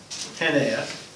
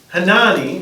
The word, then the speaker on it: Hanani: the citadel of Susa, Hanea, this is Hanani. Susa is in Persia. Okay, this is Persia, Iran. Hanani, I guess is actually the pronunciation.